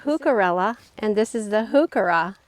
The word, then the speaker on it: Heuchera: and this is the hookura it's really hard not to get those too confused you may have heard this pronounced yucara with the h silent leave me a comment